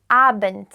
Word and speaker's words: Abend: Guten Abend, guten Abend. It pronounced the end of Abend is almost like a T, but it's like a closed-nosed T.